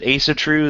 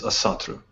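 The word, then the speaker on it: Ásatrú: the uh the as is it Asatru is that how you pronounce that typically you you hear it as asatu I see yeah that's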